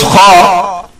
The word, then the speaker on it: خ: This is pronounced from the front of the throat. It should be read loudly, whatever accent it is given. Pronounce kha like this.